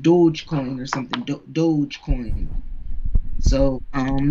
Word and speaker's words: Dogecoin: up under bitcoin then dodge coin no i know i think it's it's pronounced dogecoin or something dogecoin so